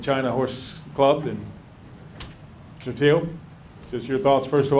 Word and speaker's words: Teo: So if you pull up the mic there a little bit and pronounce it for us there. Teo is correct. Teo. T-E-O, Teo, yes.